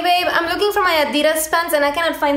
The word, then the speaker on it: Adidas: My Adidas pants. Adidas. Yes. That's not how you say it. Yeah, that's how you say it? No, it's a German brand, and since I'm German, I guess I know it better.